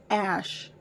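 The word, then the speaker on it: X Æ A-Xii: username looking ass and that's pronounced Ash I found out found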